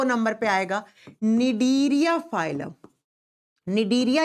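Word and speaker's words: Cnidaria: दो नंबर पर आएगा डीरिया फाइलम डीरिया या सिलेंट्र भी कहते हैं अब देखो इंग्लिश में सी से लिखा जा जाता है और ज प्रोनाउंस करते हैं तो एन से इसी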